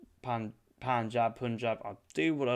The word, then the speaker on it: Punjab: punjab harrison is not punjab is pronounced pronounced like panjab is written punjab yeah if i want